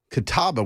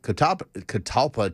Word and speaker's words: catalpa: tree and talked about catawba worms. And there's a tree called the catalpa tree, is how it's said in the South. We call it a catawba tree.